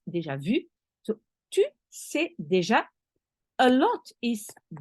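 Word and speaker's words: déjà vu: in the deja vu as you say deja vu in English but it's deja vu so a lot is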